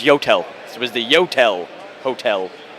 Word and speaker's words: Yotel: on 10th and uh 10th and 41st it's pronounced hotel no it's yotel it was the yotel hotel and we actually